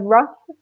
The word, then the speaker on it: rough: Actually, in the word rough, the GH sound makes more of an F noise, whereas in bright, we just don't mention it at all.